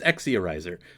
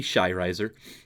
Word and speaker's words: Exia Riser: I did later find out that the X as a standalone character does not create the X sound, and it's more of a sh sound, and so it ends up properly being pronounced as Shirizer. But I didn't know that when I was like 10. So, I didn't know that when I was 10. So it's Exiarizer. It could also be Shirizer.